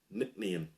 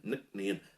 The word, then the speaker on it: Nc'nean: to try and pronounce n c apostrophe n e a n nickname now these are a